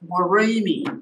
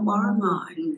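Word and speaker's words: Worimi: And it's pronounced Warimi. Warimi, sorry. Warimi, not Warramai.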